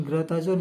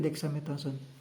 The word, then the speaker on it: Dexamethasone: kandungan ininya yang ininya kita bukan grathazon Nyai ngebacanya tapi Dexamethasone nah ini obatnya khusus